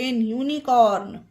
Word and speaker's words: unicorn: Word में आई है, तो उसमें यू का उच्चारण यू होगा। कुछ और एग्जाम्पल देखते हैं। UNIVERSITY, university. UNITY, unity. URINE, urine. UNICORN, यूनिकॉर्न।